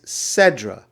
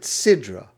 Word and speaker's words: Sedra: The truth is, a better word for the weekly Torah portion is Sedra. Some people pronounce it Sidra.